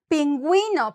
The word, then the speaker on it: pingüino: Pingüino, penguin, pingüino. You're gonna pronounce it because that has that diéresis, like the two dots on top.